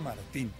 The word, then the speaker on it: Martín: Y que su apellido no era Martín, su apellido era Martín.